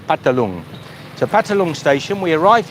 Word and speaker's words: Phatthalung: Phatthalung, or it's sort of spelt Phatthalung, but it's pronounced like a lot of things in Thai, the pa sound. Phatthalung.